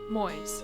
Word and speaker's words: Moys: It's pronounced boys, but replace the B with an M. Gaming Moys.